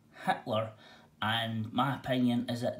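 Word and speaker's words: Hiedler: pronunciation was the name heidler spell heidler but pronounced hitler and my opinion is that the priest wrote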